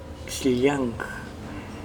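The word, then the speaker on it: Xllang: mochica, proviene de una palabra muy complicada para pronunciar. Es X-L-L-A-N-G, Xliang.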